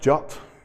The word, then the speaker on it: JWT: architecture so it's pronounced jut I'm not sure why because that's not not how it's spelt I don't know when a W started to sound like like an O but basically it's a